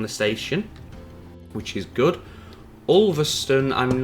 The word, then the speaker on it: Ulverston: It's not stone, it's stun. Even though I'd still pronounce it as Ulverston, even if I had the E on the end.